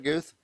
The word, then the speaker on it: Guth: Do I pronounce that right, Guth? Yes. Guth Dental Consulting.